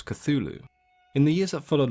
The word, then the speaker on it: Cthulhu: a fur ball so the pronunciation that is widely accepted and used today is of course Cthulhu in the years of